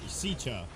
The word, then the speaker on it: Sitka: At last, Sitka is pronounced Sicha.